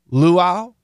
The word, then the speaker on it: luau: a luau do you know how to spell luau I'll spell it for you l u a u and